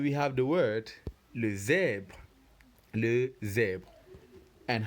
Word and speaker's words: zèbre: Remember this E here with the accent grave is not pronounced E, it is E. That's why you get the sound zèbre.